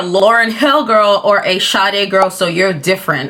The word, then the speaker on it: Sade: fact that you guys don't even know how to pronounce her name shade she's Nigerian my actual my true Nigerian name or the true Nigerian pronunciation was closest I can get to it is uh